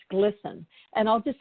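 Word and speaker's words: GLSEN: I lost my place GLS en pronounced glisten and I'll just say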